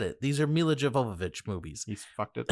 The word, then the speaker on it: Jovovich: these movies aren't Resident Evil movies they're Mila Jovovich movies are you gonna say her name differently